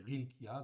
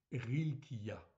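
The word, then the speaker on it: חִלְקִיָּה: Donc ici, c'est Rilkiya, donc il y a un petit en fait ici, une petite apostrophe devant, parce que ce n'est pas un H, c'est un ret. Donc, ça se prononce Rilkiya, en fait ici tout simplement.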